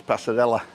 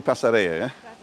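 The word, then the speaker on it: Pasarela: Double L right everybody I talked to says pasarella and it's definitely pasarea 100 so we got a kiss eria you want insane it's on the bottom of the center only has one L in it there you go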